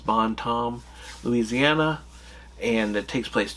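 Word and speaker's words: Bon Temps: It's spelled T E M Ps, but in the show they keep calling it uh, Bon Tom uh, without the s and without the temps.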